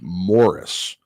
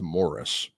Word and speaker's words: Maurice: Um, and he had a personal driver named Morris, spelled Maurice, pronounced Morris.